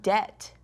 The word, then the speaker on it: debt: And how about debt? Debt. You got it. We don't say the B.